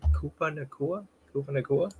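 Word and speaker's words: Puka Nacua: Koopa Nakua? Yep, you got it. All right, Koopa Nakua.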